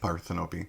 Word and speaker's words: Parthenope: I have an aunt Parthenope. Yeah. So you're saying I offended your aunt? No, I'm just telling you that that's how it's pronounced.